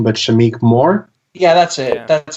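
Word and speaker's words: Shameik Moore: a joke i'm sorry if i butchered the pronunciation but shamiq more yeah that's it that's how you say it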